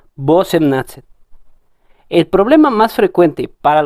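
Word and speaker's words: восемнадцать: Entonces, en teoría, su pronunciación debería ser Basemnatsat, porque la O no está acentuada. Y digo en teoría porque realmente nadie pronuncia de esta manera. Todos pronuncian Bosemnatsat.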